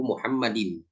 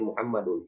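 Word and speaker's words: مُحَمَّدٍ: ya makanya namanya eh bacanya kitabu Muhammadin tidak boleh Muhammadun haram itu namanya mudhaofun ilaihi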